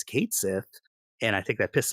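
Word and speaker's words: Cait Sith: something and said hey here's the official pronunciation it's Kate Sith and I think that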